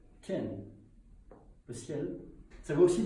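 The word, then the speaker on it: 天: Le premier, il se prononce Tian, le ciel.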